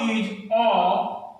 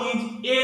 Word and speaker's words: a: D E F A, हम ऐसे तो उच्चारण ए करते हैं, लेकिन जब किसी वाक्य में हम पढ़ते हैं तो इसका उच्चारण हम अ करते हैं। द काउ इज अ useful animal.